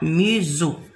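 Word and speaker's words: maison: اس كي يكون في وسط دو فوايل ينقرا ز. ينطق ز ماشي اس وانما ز. قلنا ميزو.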